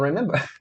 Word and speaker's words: remember: Mas a sílaba tônica qual é nesse verbo? A gente fala remember ou a gente fala remember? A gente fala remember. A gente fala remember. Então a sílaba tônica qual é? É a me.